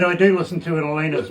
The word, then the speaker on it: Elena: i must tell you my name is pronounced elena okay so just so you know um but uh i know everybody calls me elena or alana or this but i